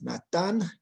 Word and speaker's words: Natán: Es un poco difícil pronunciar mi nombre, Nathan, pero en español es Natán. Natán como el profeta Natán.